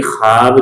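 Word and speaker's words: خواب: जैसे मिसाल के तौर पर हमने इससे पहले क्या देखा कि ख्वाब देखा, ये तो लिखा हुआ है लेकिन ये पढ़ने में नहीं आता है, तो ये वाव ऐसा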